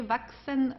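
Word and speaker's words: wachsen: Vaxen vashen. Uh, CHS is pronounced like an exvaxen. Okay, just for you to know this combination of the three letters, vaxen.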